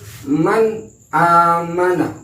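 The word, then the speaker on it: مَنْ آمَنَ: Man amana, man amana, nun bertemu dengan hamzah. Jadi cara membacanya harus man amana, bukan nggak pakai dengung. Man aman itu salah. Yang benar adalah man amana, tapi tidak terlalu kasar juga, harus agak kendor.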